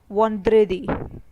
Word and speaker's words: vendredi: Friday in French is spoken as vendredi.